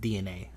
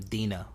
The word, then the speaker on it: DeNA: with DNA which by the way it's actually pronounced DNA I kept calling them Dena for a long time know your data like